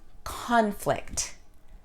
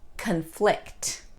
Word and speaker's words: conflict: give them different meanings nouns person place or thing always stress the first sound verbs actions always stress the second sound let's try a few the noun conflict verb conflict the noun object verb object noun increase verb increase last